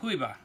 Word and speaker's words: Juyba: don't know any Spanish, it's Juyba, but in Spanish it would be pronounced Juyba.